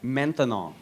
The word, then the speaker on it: maintenant: That's right, maintenant. Maintenant. 3 syllables, that's a long word for now.